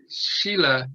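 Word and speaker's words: śīla: This term shila, or it's pronounced with that sh sound, is morality, ethics, precepts in the general sense.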